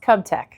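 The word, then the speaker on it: KUBTEC: It's pronounced Cubtech.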